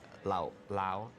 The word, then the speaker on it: Lao Lao: actually the name of the liquor, but it's pronounced Lao Lao, meaning it's the alcohol of Lao.